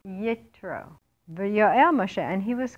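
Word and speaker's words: יתרו: How do you say his name in Hebrew? Yitro.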